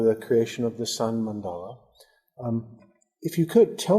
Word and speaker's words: mandala: So, so the mandala is actually very deep and profound meaning. So the the term mandala itself is originated from the Sanskrit language and uh actually is uh not the mandala but it's mandal mandal mandal it's the